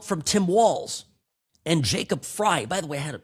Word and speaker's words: Frey: Sorry, I don't have it in front of me and said, "Sam, I think it's Fry, not Frey."